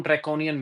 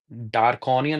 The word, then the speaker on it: draconian: I was actually pronouncing it wrongly. Darkonian, I said something. Draconian it is.